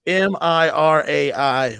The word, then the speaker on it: Mirai: It's Mirai.